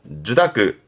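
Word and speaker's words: 受諾: 주다크, 주다크.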